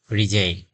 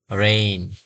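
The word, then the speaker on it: reign: আমরা উচ্চারণ করি সাধারণত রিজাইন রিজিন রিজিন মানে হচ্ছে এখানে আমরা উচ্চারণ করি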